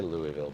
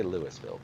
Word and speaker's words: Louisville: in their mouth uh I say Louisville because I'm not actually from Louisville I was imported from somewhere else um just don't say Lewisville cuz that's actually wrong uh named for King Louis the 16th King Louie Louisville right uh but the people